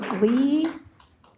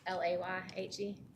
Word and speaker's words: Leahy: Lee. It's Leahy. Leahy, thank you. It's pronounced Layhe.